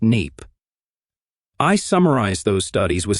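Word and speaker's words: NAEP: assessment of educational progress, NAPE, pronounced NAPE.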